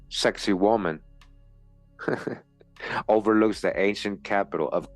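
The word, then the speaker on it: Sacsayhuamán: Sak hwan pronounced sexy woman overlooks the ancient capital of Cusco.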